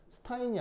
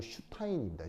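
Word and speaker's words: Einstein: 이게 ST가 영어에서는 쉬 이 발음이 나거든요. 그래서 스타인이 아니고 슈타인입니다.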